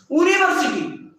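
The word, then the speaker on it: university: यूनिवर्सिटी क्या बोलते हैं, यूनिवर्सिटी, यू, यू बोलते हैं ना, यूनिवर्सिटी, यू। तो हम लोग का जो साउंड निकल रहा है वो यू, वोकल कोड से नहीं, यू।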